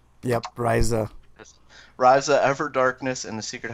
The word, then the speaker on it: Ryza: Ryza? Yep. Ryza.